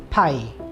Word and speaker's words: pi: we're dealing with circles there is this symbol which is a greek letter and it's pronounced pi so pi usually the value of